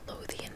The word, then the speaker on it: Lothian: and they lived in Lothian Maryland I believe I thought you pronounce it and the county in